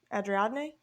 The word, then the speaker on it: Ariadne: Adriadne, Ariadne. Ariadne. Yeah, like the Greek god.